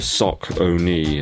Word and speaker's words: Saucony: of marathon running shoes the sock only in Dolphin Pro 3. that is how it's pronounced apparently so just think before